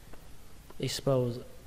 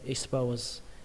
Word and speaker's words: expose: Expose, các bạn nhớ x phải có âm sờ đấy nhé. X, expose, expose, expose.